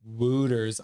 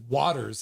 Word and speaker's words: Wouters: I thought it was pronounced Wooters. I know. Wouters, Wooters. It's just Waters, and I say it wrong all the time.